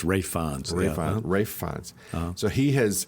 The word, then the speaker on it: Ralph: other day I know I'm not pronouncing Ralph fin or ra ra Rons rayons I knew I KN well it doesn't look like that like ralis but it's rayons ra FS so he